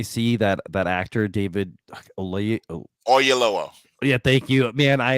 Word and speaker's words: Oyelowo: I mean, and from now on, every time I see that actor David Olay, Oyelowo. yeah, thank you, man. I am horrible at pronunciations.